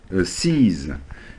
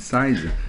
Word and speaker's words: seize: Seize. Seize, le verbe seize. Seize an opportunity. Vous avez souvent tendance à dire un autre mot. Si vous dites size, ça existe aussi, mais ça veut dire la taille.